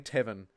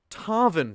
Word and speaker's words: Tarvin: goody heart hey sorry i keep saying tavern um i'm for context i'm reading your name from quite far away but that's no excuse for mispronouncing someone's name particularly when they super chat so one more time with gusto thank you tarvin short for the five